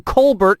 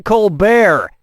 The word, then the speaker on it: Colbert: of The Colbert Report changed the pronunciation of his name from Kolbert to Colbert and that's how he